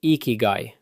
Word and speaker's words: ikigai: Habit five, ikigai, pronounced roughly ikigai.